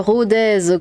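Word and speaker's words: Rodez: Euh Rodèz qu'on dit. Ah oui, pardon. Moi, j'ai dit Rodé, c'est ça ?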